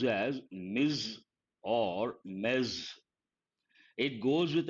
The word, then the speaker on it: Ms: misses and what is this Ms Ms we pronounce as Miz or mes it goes with a married or unmarried woman it does not talk about the marital status and you can say Miz or mes z sound M renold who is